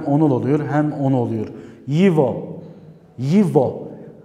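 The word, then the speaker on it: его: Yivo. Yivo. Buradaki arkadaşlar G harfi istisnai bir kelimedir. G harfiyle yazılıyor. Rusça'da bazı kelimeler o şekilde. Yigo diye yazılıyor. G. Yivo diye okunuyor.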